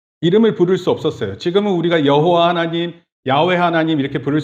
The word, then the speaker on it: 여호와: 그라는 단어에 예요 아도나이 그 그라는 단어와 아도나이 합쳐서 발음이 된게 따라합시다 여호와 여호와네 그리고 야라는 표현은이